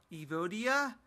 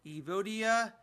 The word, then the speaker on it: Evodia: 2014 it is from evo dia alto venom at least it's how I think you pronounce all of it it's a alt OVI n um and then evo dia evo dia here's the bottle very